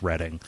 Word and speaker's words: Reading: Maybe it's kind of like when people come here and they call it Reading Road. Like, no, I'm sorry, it's Reading.